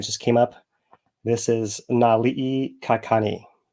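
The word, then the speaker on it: Naliʻikakani: a name that just came up this is Nali kakani right and I'll spell it n a l i okina i k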